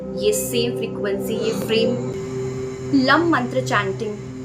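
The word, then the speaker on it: लं: ल और उसके ऊपर है बिंदी। इसका उच्चारण किया जाता है लम।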